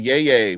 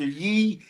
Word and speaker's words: Yee: Yay. What's up, brother? Tell us how. I love how you say my name. It's Mr. Yee.